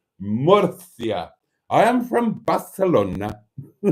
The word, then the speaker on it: Murcia: The C is pronounced th in most Spanish-speaking countries. See, I got it right. Murcia.